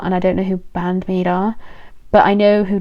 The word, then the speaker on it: Band-Maid: And I I know that Band-Maid Band-Maid, not Band-Aid. Band-Maid is so different.